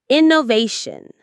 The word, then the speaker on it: innovation: Innovation. The stress is on they innovation.